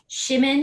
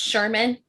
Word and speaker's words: Shimin: That like how did I Shimin, I think is how Shimin, I think was how I was pronouncing it. Yeah, me too. I was pronouncing like Jimin from BTS. Yes. It's not. It's Shermeen.